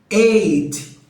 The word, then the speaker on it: ate: ter que falar I ate. E aí você fala, pô, eight não é o número 8? Sim, é a mesma pronúncia. Eight e eight são a mesma pronúncia do número 8.